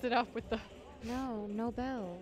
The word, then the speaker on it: Nobel: up with the no no bell like no but you said nobles okay pronunciation does not matter all right snowball it makes sense nina but it's nobel that's why i use